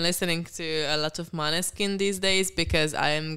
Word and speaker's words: Måneskin: It's Måneskin. It's Måneskin.